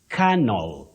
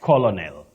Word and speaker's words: colonel: you come to English many people innocently mistake that this word is pronounced the way it is spelled which is not the case you say canel canel not colonal Colonel no okay carel